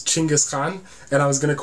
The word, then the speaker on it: Genghis Khan: uh so genghis khan the way his name should be pronounced is chingus khan and i was going